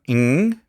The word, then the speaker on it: Ng: And he just says, just NG, and it's like, oh, okay.